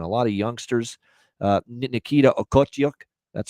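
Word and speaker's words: Okhotiuk: Nikita Okotyuk, that's how you say it.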